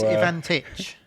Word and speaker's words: Ivantic: Everybody says it wrong. So it's Ivantic.